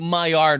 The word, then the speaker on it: Maillard: is, and I don't even know if I'm pronouncing the word properly, the Maillard reaction. Is that yeah, correct? the Maillard reaction.